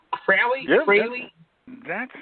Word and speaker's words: Fraley: Is that how you say it right? Fraley?